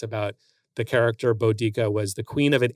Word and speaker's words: Boudica: So the song, again, with the pronunciation, could be Boadicea, but apparently the original Celt would have had it as Boudica, because the song was